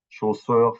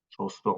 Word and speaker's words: chaussures: Shoes for, chaussures for shoes, chaussures noires. Okay. And in French, as you might as well already know, but for those who don't, I'm gonna mention it. You don't pronounce the S at the end, just like you do